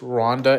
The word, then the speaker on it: Rwanda: Urgas said he's at First of all, Rwanda doesn't have an A before the W. It's just Rhonda.